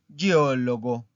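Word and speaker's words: geologo: Y por último, il geólogo. Il geólogo. ¿Escucharon dónde está la sílaba tónica? La voy a volver a repetir despacio. Geólogo. Geólogo. ¿Es una palabra plana o esdrújula? Geólogo. Es una palabra esdrújula, ¿verdad?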